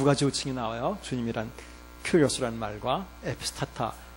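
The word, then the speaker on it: κύριος: 주님이란 큐리오스라는 말과 에피스타타. 이 에피스타타에 대해서는 지난주에 말씀을 드렸어요. 이거는 영어에서 큐리오스라는 말은 보통 주님 하는 큐리오스라는 말은 이건 그냥 영어식으로 그대로 읽으면 돼요. U는 위 발음이 나요. 위. 퀴리오스예요.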